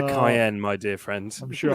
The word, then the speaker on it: Cayenne: bit like the uh the porsche kanye or cyan or whatever you pronounce it kanye you mean the cayenne my dear friends i'm